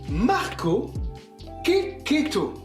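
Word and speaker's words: Marco Checchetto: dararski et Marco checheto qu'on prononce Marco keketo c'est quand même bien fait c'est italien c'est bon keketo merci Marvel donc qui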